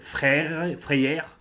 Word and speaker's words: Freyr: Ok, donc là, on vient de rencontrer le frère de Freya, qui s'appelle Freyr. Ça prononce quasiment pareil.